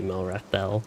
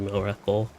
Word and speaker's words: Melrethel: I would guess it's actually Mirobel, because usually elven things are more L instead of ul, as far as I know. For things that end in EL, that is. So if I bother to pronounce my own character's name right, it would be Melrethel instead of Melrethel.